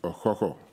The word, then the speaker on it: Okhokhor: receive the bronze cockerel, which actually is rightly pronounced Okhokhor.